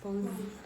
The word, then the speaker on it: pose: Pose. Okay, make that O longer.